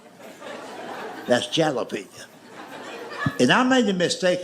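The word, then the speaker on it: jalapeño: That's jalapenñ." And I made the mistake of trying to explain that to him. I said, "I know it's a J, but it's pronounced with a H.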